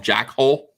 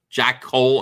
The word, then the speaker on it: Jack Cole: I feel like you do not pronounce his name correctly. Because I call him Jack Hole. Yeah, Jack Cole. Jack Cole and not Jack Hole.